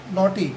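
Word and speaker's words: knotty: Next word है नॉटी, एन ए यू जी एस टी वाई, नॉटी means शरारती, और के एन O double T वाई नॉटी, इसमें के साइलेंट है, नॉटी मीन्स कठिन.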